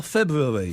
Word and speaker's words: February: I'm saying it as it's spelled. F E B R U A R Y. There's no such thing as a silent R. February.